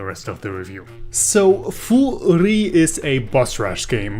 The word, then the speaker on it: Furi: really stood out to me people call it Fury and for the record that pronunciation is actually wrong because Fu and three